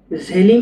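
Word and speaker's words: želim: আর পানীয়টা হচ্ছে পিচে, ঝেলিম পিচে। এই ঝেলিমটা দেখেন এটা জে উচ্চারণ হবে, জে ই এল আই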